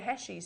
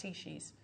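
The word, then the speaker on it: Heishi: And I said, oh, you're Heshis. He said, no, it's pronounced Heshis.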